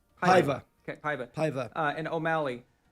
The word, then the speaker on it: Paiva: Pava? Paiva.